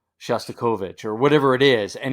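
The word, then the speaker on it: Shostakovich: to copy it but no you know that's pronounced shastovich or whatever it is and he just and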